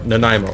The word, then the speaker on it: Nanaimo: Nanaimo. Here, I'll spell it out.